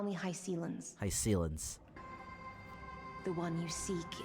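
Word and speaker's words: Hyacine: Hycelens, they pronounce it.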